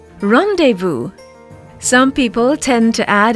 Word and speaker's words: rendezvous: not be sounded out a similar word with silent consonants would be rendezvous rendezvous some people tend to